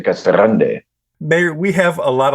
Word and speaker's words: Casa Grande: of the city uh officially K Grande so it's Spanish and and you have you roll the r but a lot of the locals just say Cagan there's no e on it it's just Cagan so if you if you want to be lazy you just say Cas Grand if you want to work at it you say C Grande mayor we have a